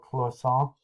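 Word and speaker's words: cloisonné: It's called Clisson. It's the same thing happening here. It's spelled Cloisonne.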